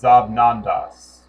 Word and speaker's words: XabNoNdaX: However, the name makes a Z sound, and earlier derivations of same said were spelled with a Z.